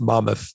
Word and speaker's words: Monmouth: i'm from new jersey it's pronounced monmouth it's monmouth college i i used to